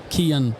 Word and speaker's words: Cian: Yeah, so Cian, it's an Irish name. And in Irish, in our language, the C is a hard C.